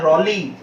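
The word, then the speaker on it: Raleigh: ध्यान रखना इसका प्रोनाउंसिएशन अधिकतर लोग गलत करते हैं, तो इसका प्रोनाउंसिएशन है रॉली, सर वॉल्टर रॉली।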